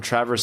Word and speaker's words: Traverse City: I'm from Traverse City, pronounced Travers, Michigan, and so I've been lucky enough to go to a few training camps up here.